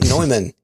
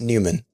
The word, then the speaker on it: Neumann: Monthly command line boost from Mike Neumann. It's Newman. Mike Newman. I always mispronounce it.